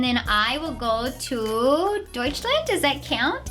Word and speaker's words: Deutschland: Oh, and then I will go to Deutschland. Does that count? It's Germany, and that's how they say it there.